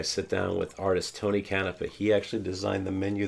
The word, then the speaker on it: Canepa: say what your last name how do you pronounce it Tony kanafeh Tony kanafeh he is a famous Tiki artist